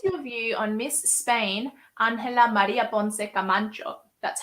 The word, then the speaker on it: Ángela María Ponce Camacho: What is your view on Miss Spain, Ángela María Ponce Camacho? That's how you pronounce it, everyone.